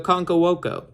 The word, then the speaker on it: Okonkwo: And then at tight end, Chiga Okonkwo.